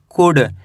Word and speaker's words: could: COULD इसे पढ़ेंगे कुड, क्या पढ़ेंगे कुड। इसके अंदर एल साइलेंट है कुड।